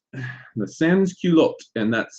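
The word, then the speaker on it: sans-culottes: another group of people that emerged called the sanskulot the sansky looked and that's spelled s-a-n-s c-u-l-o-t-t-e-s and culotte are these pantaloons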